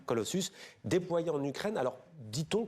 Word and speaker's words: Colossus: modèle qui s'appelle Colossus, ça se prononce comme ça, Colossus, déployé en Ukraine.